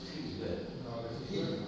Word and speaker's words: Gisbert: Esto es Gisbert, no, como dice, es Gisbert. Gilbert. Eso me lo dijo a mí. Porque lo conocen gallego, pero es un apellido catalán.